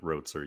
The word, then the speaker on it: Roetzer: behind that but I I ride with rotzer usually because that's the most common way people say it so I was actually told by someone who like from Germany that I'm mispronouncing my name as and I said well that that's what I was given for my ancestors I have no idea how to actually say it well there you go